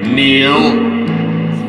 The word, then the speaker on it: kneel: Kneel. Another silent K.